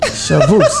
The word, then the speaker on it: Chavous: Chavous. The S is silent. Chavous, that's right.